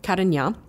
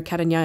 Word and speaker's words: Carignan: There is a grape from France called Carignan, that's spelled C-A-R-I-G-N-A-N.